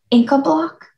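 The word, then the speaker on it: Incabloc: Inca block?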